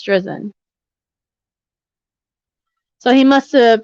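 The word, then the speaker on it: Drizin: Just for the record, Judge, it's Drizzen.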